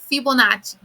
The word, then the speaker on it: Fibonacci: triangular numbers fibonacci sequence fibonacci is italian all right so it's fibonacci so we're going to